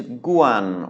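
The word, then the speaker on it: กวน: Our next word uses our newest vowel, and this is guan, which is gokai, wawan, nonu, guan, although it's also pronounced guan when spoken quickly. Gokai, wawan, nonu, and this is a mid-tone because it's a mid-class consonant and a sonorant final.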